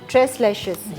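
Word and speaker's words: tres leches: एक नाम है ना ट्रेस लेश ट्रेस लेशर इसको ऐसे ही प्रोनाउंस करना ठीक है जी ट्रेस लैशेस केक बना रहे हैं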